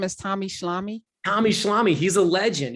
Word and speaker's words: Schlamme: Spelled phonetically, Tommy Schlamme. Yeah, like Schlemiel Schlemazel Schlamme.